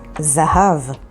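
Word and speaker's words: זהב: The next word is zahav, which means gold, and it's spelled with zayin, hey, bet.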